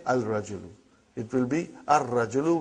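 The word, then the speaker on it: الرجل: And then, brother, Ar-Rajulu. Ar-Rajulu. The man. Not Al-Rajulu. It will be wrong to say Al-Rajulu. It will be Ar-Rajulu. We won't pronounce Lam. Why? Because it is a sun letter.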